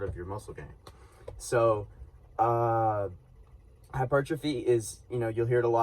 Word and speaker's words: hypertrophy: So hypertrophy, it looks like hypertrophy, okay? But it's pronounced hypertrophy.